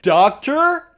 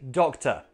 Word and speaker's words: doctor: If I get sick, I go to the hospital and I see a doctor? No, I see a doctor. Doctor. Say it with me, doctor.